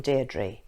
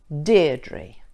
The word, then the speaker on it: Deirdre: How many syllables does my name have? Deirdre. 2 syllables. And where is the stress in Deirdre? Deirdre, on the first syllable.